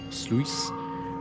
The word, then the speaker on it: sluice: To descend further, I'll have to find the local how to pronounce this word, sluice pumps to drop the water levels.